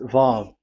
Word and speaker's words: Vav: So it's V as in Vogue. So it's really V. How to read Vogue? So the word, the shape Vav is really pronounced V, like Vogue. That is it, pronunciation. So here in this side, it's pronunciation. This is pronunciation. So according to the old Hebrew word today, those who, the owner of the word, I mean, so it's a V. So don't change it into W.